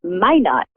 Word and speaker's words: Minot: It's Minot, actually. It's Minot, is it? Oh, how funny. Yes. I pronounce it in the French way, right? So Minot.